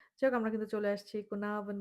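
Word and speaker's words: Caernarfon: আমরা আজকে এখন যাচ্ছি আমাদের সেকেন্ড ডেস্টিনেশনে সেটা হচ্ছে কোনাভন। এটা আমি জানি না আমার প্রোনাউন্সিয়েশন ঠিক হয়েছে কিনা বাট ব্রিটিশ প্রোনাউন্সিয়েশনটা এরকমই আর আমেরিকান প্রোনাউন্সিয়েশনে আরটা উচ্চারণ করা হয় আর কি কুর্নাভন এভাবে বলে।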